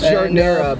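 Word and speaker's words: giardiniera: It's jardinera, but beef. Yeah. Yeah. So a lot of shredded beef. A lot of shredded beef. That's how you pronounce it, jardinera.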